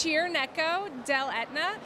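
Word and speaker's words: Cirneco dell'Etna: moment how do you pronounce it it's it's pronounced cheer neck Oh del Etna so I always break it down for people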